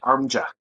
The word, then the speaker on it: ARMDGA: Armja. It's a soft G.